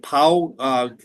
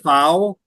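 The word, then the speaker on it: Pfau: PAU course is one of the toughest in the country.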